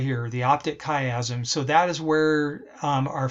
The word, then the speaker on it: chiasm: actually called the optic chiasm that's how you pronounce this right here the optic chiasm so that is where our field of you